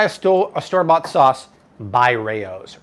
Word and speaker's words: Rao's: a store-bought sauce by Rao's Rao's or as art pronounces it roe is fantastic this model